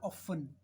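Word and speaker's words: often: टी में क्या क्या हो सकता है, जैसे एक होता है नॉर्मल, ऑफन, नॉर्मली, ऑफन, ज़्यादातर, इसमें टी साइलेंट हो गया।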